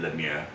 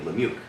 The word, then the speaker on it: Lemieux: I only know how to say it cuz he's on Sirius on the channel and he doesn't sound like a David Lemir, but he sounds like a David Lemieux, you know, but he says it that way, so that's how I know.